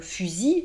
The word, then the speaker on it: fusil: Un fusil, par exemple, le verbe c'est fusiller. Vous voyez, mais fusil, je n'entends pas le L à la fin.